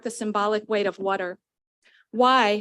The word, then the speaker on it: wai: symbolic weight of water why sometimes pronounced Wyo or way meaning fresh water is